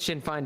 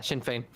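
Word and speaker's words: Sinn Féin: matter other than Mustafa right okay good oh Shin Fain did I say that wrong did I I said Shin fine didn't I yeah Shin Fain thank you daxi P me see that I'm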